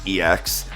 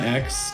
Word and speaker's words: ex: We've already seen some cards, Koraidon and Miraidon EX, or it's X. It's technically pronounced X.